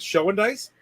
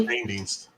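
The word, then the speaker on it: Schoendienst: And then in the Red Shane Dienst is his name. I call it Show and Dice. Yes, but it's pronounced Shane Dienst.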